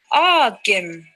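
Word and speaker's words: aagim: The long A is pronounced as in father. Ah. Amo. Amo. B. Agim.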